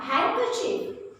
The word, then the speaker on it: handkerchief: and these words are handkerchief in this word d is silent now handsome again